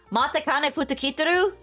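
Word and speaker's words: Matikanefukukitaru: Pronounce the name of my horse? What do you mean? Matekane Futakitaru?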